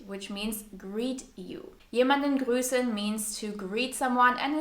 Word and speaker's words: grüßen: Jemanden grüßen means to greet someone and is pronounced with a long stretched ü sound.